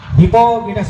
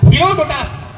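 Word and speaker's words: Herodotus: ইতিহাস জনক পৃথিবী বলে জানা যায় হিপোলিটাস হিপোটাস হিপোটাস নয় হিরো দুটাস হিরো দুটাস হিরো ডোটাস Buddha হিরো ডোটাস এটা উচ্চারণ দরকার কথা বুঝিছু হিরো ডোটাস উচ্চারণ বেলে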